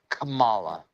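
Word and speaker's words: Kamala: And our favorite favorite person, Camela Harris. Uh, Camala.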